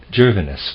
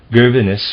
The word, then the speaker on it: Gervinus: Gervinus was his name. I'm going to spell it that way.